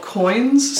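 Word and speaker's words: quoin: uh these metal things are called coins spelled with a q q uo i n uh and um basically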